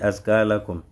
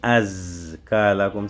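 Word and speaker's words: أزكى: Quand je dis askalakum, ça dit azkalakum, ça sera comme si tu avais prononcé Zayon, tu avais plutôt prononcé Sinon à la place de Zayon. Az, tu dois bien intensifier son son.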